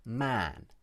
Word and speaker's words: man: As you can hear, Emma uses a long ah vowel in the word man.